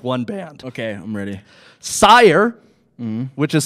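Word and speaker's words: Syar: Sire, which is spelled S-Y-A-R.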